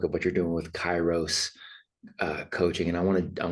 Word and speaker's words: Kairos: And so taking a look at what you're doing with Chyros uh coaching and I want to I want to dive right into that too.